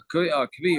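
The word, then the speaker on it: כוי: Kvi or a koi, whichever way you want to pronounce it.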